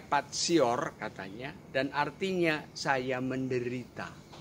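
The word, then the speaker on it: patior: dari kata bahasa Latin tulisannya Pati or Hai membacanya patsy or katanya dan artinya saya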